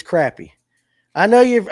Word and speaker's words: crappie: Now, listen, it's crappy. I know you I know you're from Mississippi and all that and you guys all say it wrong once you get outside of Georgia. It's crappy.